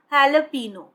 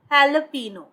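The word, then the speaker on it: jalapeño: इसकी जो साउंड है, जो वर्ड है, आप देख सकते हैं जे से स्टार्ट हो रही है फ्रेंड्स, लेकिन इसको जब आप प्रोनाउंस करते हैं, जब आप बोलते हैं, तो ह साउंड आती है, हैलपिनो, हैलपिनो, राइट। सो ये हैलपिनो होती है, ये एक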